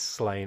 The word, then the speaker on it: Slaine: Yes, that is the correct pronunciation, but Pat Mills said it's Slaine, as in he's slain a lot of people.